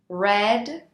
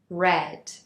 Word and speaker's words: read: of the verb read although it is spelled the same in all three conjugations the pronunciation is different read present simple red past simple red past participle for example I cut